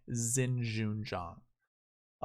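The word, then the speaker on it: Xinjun Zhang: carlos ortiz and xinjin zhang that's how you pronounce his name by the way xin zhun zhang um so that would be your top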